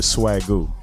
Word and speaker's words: Swagoo: I'm gonna go with the Swagoo. Can we go with Swagoo, Dimitri? Swagoo. It's spelled SWAG with a U. Swag cool, like the swag flute.